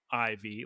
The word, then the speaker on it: Smoliv: Bound Sweet and a Smoliv spelled cutely, as the kids would enjoy. Smoliv, like small. Like look at the small friend. Yeah, Smoliv.